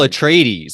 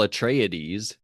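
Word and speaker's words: Atreides: oh I I think I think his name is Paul a trades I don't think it's Paul a trodes okay but it's pronounced with an extra I so I might just be over pronouncing that that name but I'm going to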